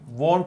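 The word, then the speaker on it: won't: हैं आरट होना चाहिए दूसरी गलती होती विल में विलेट कह देते हैं नहीं वंट होगा फिर वुड में एंटी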